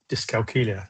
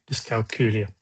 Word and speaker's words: dyscalculia: So a really good way to sort of try and remember how to say it is it rhymes with Julia, dyscalculia.